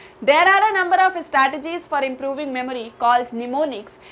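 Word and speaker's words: mnemonics: उसे कहा जाता है निमोनिक्स एमएस साइलेंट है एंड इट्स निमोनिक्स इसको प्रनंसीएशन भी बताया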